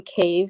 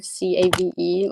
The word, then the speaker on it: Cave: Well, it's just my name for everything, which is, spelled like, and then Cave, Cave, like caveman.